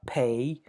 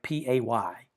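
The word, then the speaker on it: Pe: We have uh pay. So it's like p a y. We say it like pay the name of the letter.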